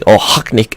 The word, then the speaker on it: Okhotnik: cuz nobody here I'll hot Nick well i'm hoping i pronounce that correctly but everybody's been telling me ohok nick is the pronunciation of it you know